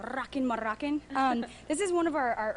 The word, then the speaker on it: Rockin' Moroccan: You got to roll your R's though. Rockin' Moroccan.